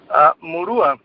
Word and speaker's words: Murua: I guess you don't but how does Jose pronounce his last name Maura Maura yeah Maura and you are you a